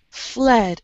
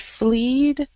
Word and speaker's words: fled: And then fled, F-L-E-D, it's a short E sound. Eh. Fled, uh-huh. And I think you said fleed.